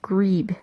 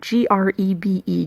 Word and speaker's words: grebe: It turns out it is a great crested grebe. I hope that's how you pronounce that. G-R-E-B-E, grebe.